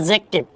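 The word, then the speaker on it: adjective: तो ये एडजेक्टिव नहीं होता है, इसका प्रोनाउंसिएशन होता है एडजेक्टिव। एडजेक्टिव, एडजेक्टिव कुछ भी कह सकते हो, बट मेरे प्यारे दोस्तों डी को साइलेंट कर लेना।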